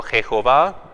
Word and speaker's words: Yahvé: Entonces, si se pronunciaba Yahvé o Jehová, era nomás un debate histórico según las consonantes que teníamos. No escribían los vocales, no sabíamos cómo se pronunciaba. Ahora la opinión más común, más cierta es Yahvé.